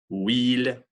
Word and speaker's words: huile: Huit, huile, en Suède. Répétez, huit, huile, Suède. All right, so when the U is followed by any vowel, it becomes that kind of W sound.